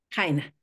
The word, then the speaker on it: Jaina: ¿Tu nombre se pronuncia Jaina o Yaina? Jaina, como Jaina. Javier.